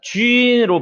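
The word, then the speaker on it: 君: 자, 쥔으로 발음합니다. J-U-N. 왜? J-Q-X-Y-D에 나오는 U는 점이 있는 U다. 생략했을 뿐이다. 그러니까 위 발음이 나니까 어떻게 해야 돼요? 발음을 쥔 이렇게 해야 되죠. 우리나라에 없는 발음이에요.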